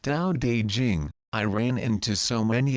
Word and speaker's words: Tao Te Ching: Long ago, the first time I read the ancient Tao Te Ching pronounced Tao De Jing, I ran into so many apparent contradictions that I felt like I was going cross-eyed with confusion.